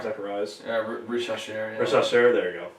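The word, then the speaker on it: Risacher: Yeah, Rich Hasher.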